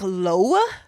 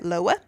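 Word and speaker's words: Loew: Um, it looks like Loa. L O E W. Okay. Loa.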